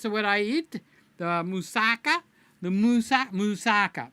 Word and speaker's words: moussaka: The moussaka, moussaka. That's how the Americans say it. It's moussaka. Moussaka. You got a ka at the end, okay? If you're not doing the ka, you're not doing it right.